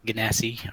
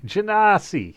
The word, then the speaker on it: genasi: And I'm playing Caliente the Bright, a fire genasi, or however it's actually pronounced.